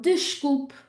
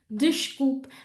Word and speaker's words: desculpe: So the first one, desculpe, desculpe. There's a really good example of the sh when we have vowel S consonant and of that closed E, okay?